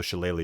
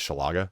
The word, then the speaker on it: Shillelagh: of Wild Shape, so Shillelagh is really cool. I can't tell you when I was a kid, I used to pronounce this Shalaga.